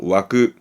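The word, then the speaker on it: 湧く: 발음은 와그, 와그.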